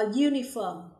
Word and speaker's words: uniform: For example, a uniform, a university. Đối với hai ví dụ đầu tiên, chúng ta thấy âm u khi được phát âm sẽ là you.